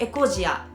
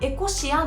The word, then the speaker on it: Ecosia: 読み方は英語で聞くとエコジア、日本語で検索する場合はエコシアの方が検